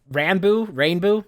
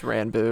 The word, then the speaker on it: Ranboo: There's only so many jokes in the world, but I see that happening now with the streamer Rainbow. I don't know how that's pronounced. It's Ranboo, but Ranboo.